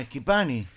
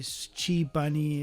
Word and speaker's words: Schipani: No, Schipani. Bueno, usted porque maneja bien el léxico, Porque soy Pettinati. Pues Claro. soy italiano. la CH en italiano se pronuncia como una K. Ajá. Me han dicho Schipani, bueno, de todos colores.